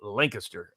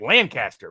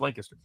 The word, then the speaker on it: Lancaster: me repeatedly it's pronounced Lancaster okay apparently that's some sort of English thing by the way apparently